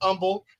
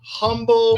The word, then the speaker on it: Humble: he lives in Umble um that's right it's pronounced Umble it's not humble it's not humble it's humble I know it's